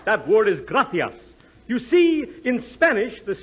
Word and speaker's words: gracias: simple Spanish phrase read it please okay muchas gracious Amigo no no no no not gracious that word is gracias you see in Spanish the sea is pronounced